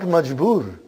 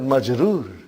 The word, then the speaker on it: majroor: Not majboor, but majroor.